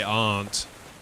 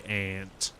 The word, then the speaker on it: aunt: See, so we say aunt like auntie, aunt. I don't know why you say ant, but I know that in the states you just have different pronunciations in the states.